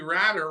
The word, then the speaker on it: Ratter: Speaking of special guests, the one and only Ratter, rhymes with ladder.